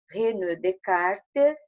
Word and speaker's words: René Descartes: A Pro só vai fazer um comentário aqui que nós escrevemos René Descartes, mas pronunciamos René Descartes, porque é um nome francês, ok?